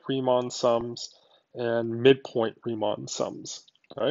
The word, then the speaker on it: Riemann: four using something these rectangle sums are called Riemann sums okay so that's how you pronounce that were their Riemann sums it's named